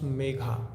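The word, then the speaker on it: Megha: The sound a at the end can be controlled. M E G H A this becomes mega. But if you uh call it in Sanskrit or Hindi it will be mega mega. And if you want to make it mega you have to add a sound a um letter we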